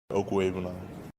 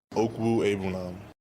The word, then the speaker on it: Okwuegbunam: Okwuegbunam. Hey, you don't have Steve calling him whatever the hell he was calling him. Okwuegbunam.